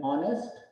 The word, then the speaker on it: honest: An honest, here H is again silent.